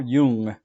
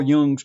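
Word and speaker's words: Jung: to uh present to you a name Carl Yung Yung is spelled j n but it's pronounced Yung I think he was Swiss doesn't really matter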